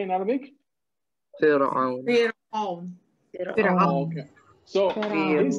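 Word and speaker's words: فرعون: Okay, so we don't pronounce the ra of Fir'aun with tafkhim. We pronounce it with tarqiq, so we make it smaller, the ra.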